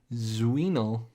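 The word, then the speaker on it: Dzwinel: game and developed by jacob zuinol d-z-w-i-n-e-l that was my best guess at how you pronounce his name zavatero my you look at mine i know i tried to say dzw in like in a row this is a wienel uh anyway i i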